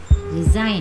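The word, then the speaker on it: resign: Next है आपका फॉरेन, है ना, उसमें भी क्या है आपका, जी साइलेंट है। नेक्स्ट है आपका रिजाइन, रिजाइन में भी देखिए जी क्या है, साइलेंट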